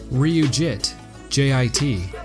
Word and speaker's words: Ryujinx: Then REE-YOU-JI-NX, which is the codename for the JIT compiler for Netcore.